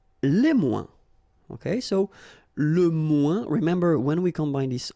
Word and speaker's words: moins: Okay, so le moins, remember when we combine this O-I-N together, we get the sound ouin, ouin, ouin, okay, and we don't pronounce this final S.